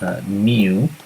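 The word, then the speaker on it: μ: is this symbol miu it's pronounced mu it's a greek letter equals the summation of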